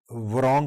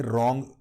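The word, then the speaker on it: wrong: بھی درست ہونا چاہیے، یعنی رانگ کی جائے ورانگ کی بجائے رانگ۔ اگر لفظ درست لفظ ہو نا رانگ، ڈبلیو سائلنٹ ہے، آپ ورانگ بولیں۔ اور اسی طرح آپ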